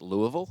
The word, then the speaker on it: Louisville: it uh I don't I love saying it Louisville I don't know if that's the correct pronunciation is it okay great that's how I've